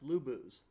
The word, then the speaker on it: Luboos: see it obviously on the video but I'll spell it out l u Bo o oos lubos so I know this sounds dorky you know